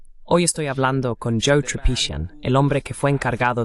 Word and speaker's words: Tripician: Olvidé preguntarte si tu apellido se pronuncia Tripician. ¿Es correcto? Es tripishian. Está bien, casi.